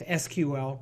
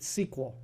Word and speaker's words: SQL: Some people pronounce this SQL and others pronounce it SQL.